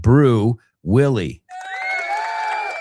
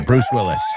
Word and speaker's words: Bruce Willis: We always uh Well, we talked about him recently because we were saying how my friends in Al Media pronounce his name. Yes, I'm talking about Brew Willie. Well, no, Bruce Willis.